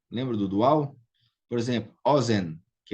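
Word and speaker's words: אֹזֶן: Então, ozen é segolado, Keren é segolado, regel é segolado, ou seja, a primeira sílaba aqui é a tônica.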